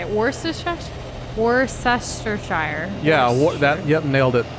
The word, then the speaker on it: Worcestershire: your first response I can't say it worse worse sestershire yeah that yep nailed it which did you